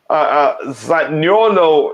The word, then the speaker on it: Zaniolo: How would you pronounce his name? Zaniolo.